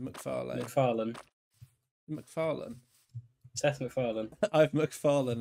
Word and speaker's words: MacFarlane: MacFarlane. MacFarlane. Seth MacFarlane. I've MacFarlane and I can't get up. I'm MacFarlane. So it's MacFarlane. I don't really put emphasis on the lane as much, but to be honest, but I don't know.